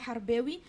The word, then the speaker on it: Harbaoui: c'est Harb en fait ça se prononce harboui et le la racine c'est Harb et Harb c'est la guerre donc je suis moi-même